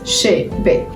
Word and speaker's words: Chébé: So Chebe is pronounced Chebe.